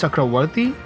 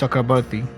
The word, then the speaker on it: Chakravarti: sure, but probably Sanskrit, Chakravarti, it's pronounced Chakravarti, but if you are from eastern side, you will pronounce Chakrabarti, which is, same thing.